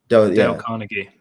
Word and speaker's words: Carnegie: and influence people or darn kahi I don't know Carnegie yeah Carnegie yeah that's how you say it yeah D Carnegie but